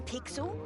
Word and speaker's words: Pixel: not weird guy I'm pixel it's easy to remember because it rhymes with pickle it does I'm Foster